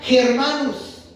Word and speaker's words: germanus: Esta palabra, hermano, tiene origen obviamente desde el hebreo, pero en el latín, hermano, significa germanus. Así se pronuncia o así se trata de pronunciar.